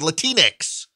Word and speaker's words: Latinx: of white progressives uses the word latinx rhymes with kleenex it doesn't exist in